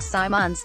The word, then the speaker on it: Simons: IMG Academy in Bradington Simmons pronounced Symons said the Blazers joined